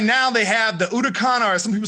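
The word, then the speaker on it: Huracán: the sto because right now they have the udokan or some people say huracan but it's pronounced udacon but they have an sgo i think i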